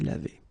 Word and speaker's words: lavée: e at the end, but then phonetically it doesn't exist, you don't pronounce it, so it would be exactly the same form phonetically, je me suis lavé.